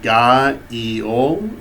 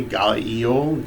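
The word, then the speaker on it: GAIOL: divine names, written in Enochian, and it is pronounced Ga-Eol, okay, Ga-Eol, G-A-I-O-L, okay, and then embedded in the table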